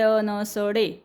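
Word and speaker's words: know: याच्यामध्ये के साइलेंट आहे आपण नो वाचतो ह्याला के एन ओ डब्ल्यू नो पण के सायलेंट आहे के चा उच्चार करायचा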